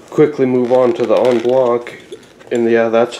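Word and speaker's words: en bloc: move on to the on block and yeah that's how it's pronounced again uh that is it's a French word and it actually means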